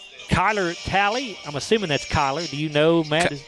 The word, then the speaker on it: Kyler: Kyler Talley, I'm assuming that's Kyler. Do you know, Matt? It's Kyler. Okay, it's spelled a little bit weird, but Kyler Talley, a left fielder for Greenwood.